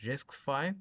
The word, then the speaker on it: RISC-V: The rest five normally it was origin story pronounced as a like a risk five.